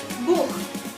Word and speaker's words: Buch: Jadi bukan Buch dibacanya, tapi Buch.